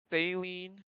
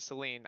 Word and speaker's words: Celine: I wish that Saline. Oh, what's your last name? We have to make sure we're very specific. One, you're saying my first name wrong. Sorry, you're right, Celine.